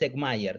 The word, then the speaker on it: Eckmeyer: Sí, la primera vez lo dijiste correctamente. Estoy acostumbrado igual a las pronunciaciones erráticas. Es Eckmeyer, sí, sí.